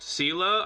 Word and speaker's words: Seele: when you're like, actually, it's actually pronounced Sela. I said Sela because that's the way it's pronounced. It's a German word, and the word is taken from the German orientation, and it's brought into the game that same way.